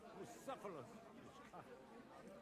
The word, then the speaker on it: Bucephalus: It's pronounced Bucephalus.